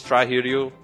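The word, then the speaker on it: Strider Hiryu: his most public known from Marvel versus Captain Strider here you shorts Strider I showed it out to try and that's it let's try here you is how you pronounce it let's try here how did you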